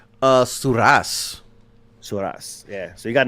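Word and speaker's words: Surace: Sars or Sorus or how do you say that name? Uh Surass.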